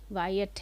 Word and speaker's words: Wyatt: When Sir Thomas Wyatt, ये मैं ना पिछले वाले वीडियोस में गलत प्रोनाउंसिएशन किया है इसका, WYATT, वायट है ये, एंड द अर्ल ऑफ